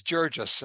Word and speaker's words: Jurgis: And a German professor told me here at Mary Washington that it's probably pronounced Jurgis with a soft Okay. G, and I thought to